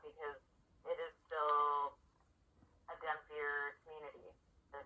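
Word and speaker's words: dhampir: Like, honestly, I'm really not, because it is still a Demphier community. Did I say that right? Dampier, yeah.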